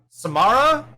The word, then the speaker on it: Samara: which by the way samara Samara is how you say miss weaving he's